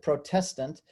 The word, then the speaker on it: Protestant: I used to be a Protestant, a Protestant. That's really how you should pronounce it, Protestant.